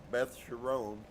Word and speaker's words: Beth Chiron: Phonetic accent on the last syllable. Beth Chiron.